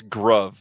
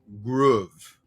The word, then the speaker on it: groove: Or, I'm sorry, everybody's telling me I'm saying it's wrong, that it's Gruv, not Groove. Groove is OOVE. Unless you're trying to be cool and spell it differently. Love is LOVE, and this is RUVE, so it's Groove.